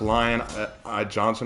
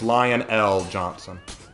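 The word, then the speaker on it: Lion El'Jonson: R random Warhammer question is it pronounced lion Johnson or lion l Johnson it's lion l Johnson there you go my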